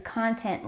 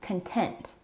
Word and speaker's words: content: YouTuber's personality, but his content lacks entertainment." Don't confuse the word content with content. These two words are spelled exactly the same, but they're pronounced a little bit differently.